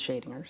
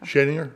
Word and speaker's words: Schadinger: A lot of people, it's pronounced several different ways, but I use Schadinger. So. Schadinger?